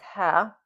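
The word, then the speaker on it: ها: So the pronunciation is ha.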